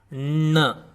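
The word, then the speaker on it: ण: Your tongue has to curl backwards while pronouncing this.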